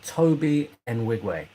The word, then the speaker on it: Toby Nwigwe: Pronounced Toby Nwigwe.